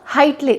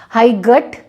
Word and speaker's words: height: हाइट जो है उसमें GH साइलेंट हो जाएगा और हाइट बोला जाएगा, हाई गट नहीं बोलेंगे, हाइट बोलेंगे।